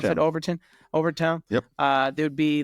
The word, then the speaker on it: Overtown: That's how you pronounce it. Overton. Overtown.